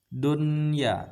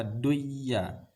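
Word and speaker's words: دنيا: tapi tidak kita idamunahkan kita harus membacanya secara izhar atau jelas Dunya tidak boleh baca duya ini bunyanun tidak boleh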